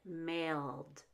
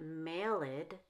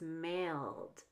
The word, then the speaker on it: mailed: become an extra syllable like mailed it's not malid it's just mailed because male ends in